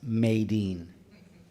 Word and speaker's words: Medine: I believe it's pronounced Maydeen.